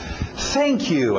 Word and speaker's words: thank you: Thank you, aquele TH de sapo.